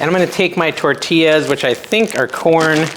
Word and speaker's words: tortillas: we're going to prepare prepare our tortillas first tortillas that's how you say it with a light